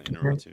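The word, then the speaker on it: Iñárritu: Um, Inaratu, I think that's how you pronounce it. Yeah, Inarritu, yeah.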